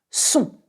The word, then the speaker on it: son: Son, S-O-N, which means sound and his or her. Son. Très bien. How do you pronounce this one?